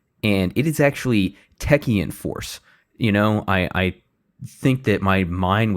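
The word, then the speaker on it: Techeun Force: I said Teshuan Force, and it is actually Techian Force.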